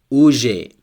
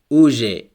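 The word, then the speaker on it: уже: Here we have the stress on the first U. Next word, uje. Uje, it means already. Here the stress is on A at the end. So the stress changes and the meaning also changes.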